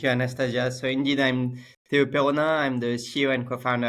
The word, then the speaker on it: Théau Peronnin: So indeed, I'm Théau Peronnin.